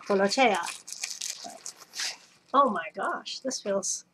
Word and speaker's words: Tolaccea: I dug out my notes from Italian class, my dictionary, and also checked with a friend and confirmed the pronunciation. So, Tolaccea.